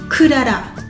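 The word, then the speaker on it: クララ: Alors, Clara, ça se dit Kurara. Donc, 3 syllabes. Ku-la-la. Oui, parce que dans Clara, il y a la et il y a ra. Et bon, bah, en japonais, la lilu lelo, on va prendre la.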